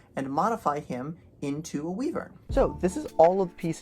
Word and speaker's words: wyvern: of Thrones dragons and yes I pronounce it weav if you would like